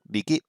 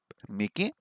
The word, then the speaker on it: 右: Niki, ue, shita. What was left? I've forgotten left already. No. Okay. Miki, Miki, Miki. Miki. Oh, wait. Am I saying it wrong? I thought it was Niki. It's Miki.